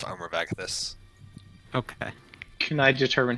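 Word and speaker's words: Agathys: Yeah, that's how it's pronounced. Armor of Agathis.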